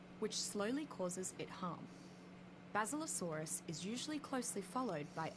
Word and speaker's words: Basilosaurus: of in the waters surrounding the island is basilosaurus oh she pronounced it basilosaurus it's a powerful swimmer which is adapted to